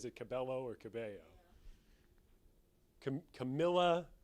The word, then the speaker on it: Cabello: in the the two the two l's you pronounce like a y right yeah i didn't i don't know if she says that cabello or cabello camilla cabello camila cabello it's the